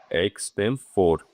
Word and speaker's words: extempore: एक्सटेम्पोर PORE, एक्सटेम्पोर pronunciation होता है।